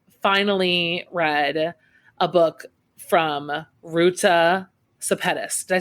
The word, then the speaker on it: Ruta Sepetys: And an easy way to remember how to pronounce my last name is that it rhymes with spaghettis.